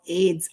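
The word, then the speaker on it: Ayds: anybody remember let's see what we got okay pronounced as AIDS it's an appetite suppressant Okay so here we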